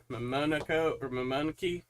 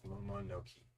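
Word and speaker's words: Mononoke: I think it's Momonoke. Momonoke. Momonoke. Like they pronounce every letters. That's a full syllable. It's every 2 letters.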